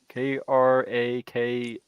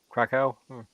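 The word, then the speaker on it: Kraków: Krakakow. I have no idea how to pronounce that. Krakow.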